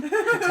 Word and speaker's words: Katahdin: Katahdin? Katahdin. Oh. I asked her, I'm like, I'm sorry, how do I pronounce this?